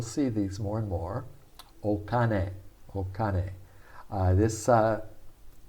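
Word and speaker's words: お金: softens okay we'll see these more and more okane this uh okane is read kin if it was the chinese pronunciation kin and it basically means metal but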